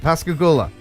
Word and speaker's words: Pascagoula: I know how to pronounce it. Pascagoula.